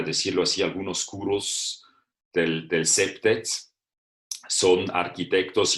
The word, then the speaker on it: CPTED: Y también es importante saber que en el mundo de la seguridad y también los arquitectos urbanistas, todos dicen CEPTED, o sea, se pronuncia CEPTED.